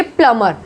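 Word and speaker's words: plumber: Next है प्लमर, प्लमर बोलेंगे इसको, प्लम्बर करके नहीं बोलेंगे, प्लमर।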